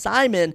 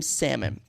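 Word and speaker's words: Saimon: m o n I found it was actually pronounced Simon I've been calling him salmon this entire time which I actually think is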